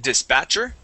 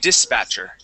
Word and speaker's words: dispatcher: First off, this word here, you had said dispatcher, okay? The accent's going to go at the very beginning of the word. We say dispatcher.